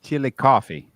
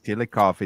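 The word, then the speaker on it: Chillicothe: a a little town in Ohio that's called chili coffee yes I know how to pronounce it correctly the name of the town is chili coffee that is the correct the way to pronounce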